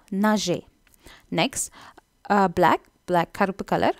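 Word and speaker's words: neige: Snow வந்து நீங்கள் ஃப்ரெஞ்சில் நெஜ், அந்த ஜி வந்து ஒரு சாஃப்ட் ஜி, ஸோ நெஜ்.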